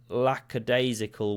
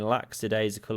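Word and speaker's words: lackadaisical: Going for a lacadasical walk, I believe is how it's said. I've been saying laxidasical all these years. Never knew I was saying it wrong.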